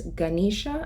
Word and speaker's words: Ganesha: mind was a Hindu god his name is Ganesha I believe it's pronounced and Ganesha is actually the God he